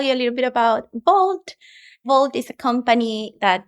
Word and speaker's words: Wolt: your Global head of Walt is it Walt or vault I always get it wrong it's funny I also said Walt when I started but how pronounces Vault so you're now global